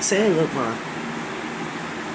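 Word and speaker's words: Sangloupmon: So after Renamon, her champion would be Sanlupmon, I'm sorry, that's how you say it, Sanlupmon.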